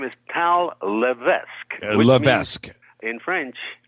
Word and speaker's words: LeVesque: his last name his name is tal Levesque Levesque in French Lees means the bishop okay and so he calls